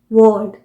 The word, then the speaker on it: world: जैसे मैं आपको एग्जाम्पल देती हूँ, WORLD, वर्ल्ड। वर्ल्ड यह हुआ British pronunciation, वर्ल्ड। Are pronounce नहीं किया, जबकि अमेरिकन प्रोनाउंसिएशन होगा वर्ड।